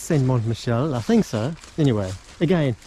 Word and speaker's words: Michel: Saint Marcel. What's that? Saint Marshall. Michel. Oh, Michel. Saint Mont Michel. Mont. I don't know. I Saint think- Mont Michel. I think it's Saint Mont Michel.